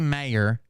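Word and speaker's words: Mayr: jump around some yeah it is Chrissy mayor but it's spelled m a y r Chrissy mayor um I think her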